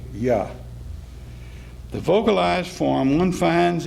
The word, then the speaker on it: Yah: this borrowing because it might have led the synagogue reader to make a mistake and pronounce the first syllable of the sacred name, namely hyphen Y-A, Yah.